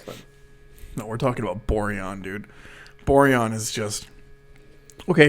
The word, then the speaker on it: Borjan: Borjat. That's all. Borjan. Oh, Borjan. Pronounce our Savior's name correctly.